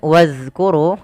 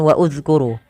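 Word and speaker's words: وَاذْكُرُوا: Kemudian wadhkuru ada zal mati dan didahului dengan alif. Ini tidak dibaca, bukan wa uzkuru, tapi langsung ke zal, wadhkuru. Wadhkuru.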